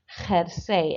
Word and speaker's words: jersey: And number 4, jersey. And again, that one maybe caught you out because, of course, the J is pronounced like an H.